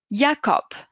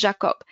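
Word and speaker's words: Jakob: تقعد اي انغريد بي الحرف هذا اسمه يوت ما اسمهاش جي اسمها يوت يا تتنطق كيما الايغريغ ياكوب ما نقولوش جاكوب ياكوب الحرف اسمه يوت كيجي في الكلمه نقولوا نقولش عليه هي ياكوب كا كونغاد كا ما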